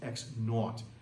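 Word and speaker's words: x₀: This is pronounced x naught.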